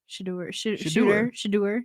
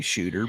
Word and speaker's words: Shedeur: I always say his name wrong. Shedeur. You can say shooter, but Shedeur. You got me because you said that Deion Sanders has a son named Shooter and Shedeur, which is wrong.